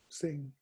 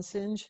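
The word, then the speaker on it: Singh: one sing baba swan singe yeah i wasn't well you're the only one i've ever heard pronounced singe everybody else says sing i think you're the only one that's pronounced it the right way but yeah it was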